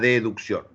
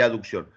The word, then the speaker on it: aducción: de abducción decimos abducción Y en vez de aducción decimos educción pero se escribe sin la e es abducción y aducción lo que pasa que